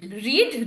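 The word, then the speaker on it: read: played football ল হ রেড book ল পরে হ তারপরে কিন্তু past participle রিড রেড রেড ঠিক আছে বানানটা একই কিন্তু উচ্চারণটা রেড হয় past participle রেড past tense হচ্ছে রেড উইল হ্যা ফিনিশ হোমওয়ার্ক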